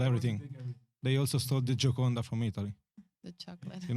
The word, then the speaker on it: Gioconda: Yeah, it's from in Italy, so I have to pronounce it in Italian. Gioconda.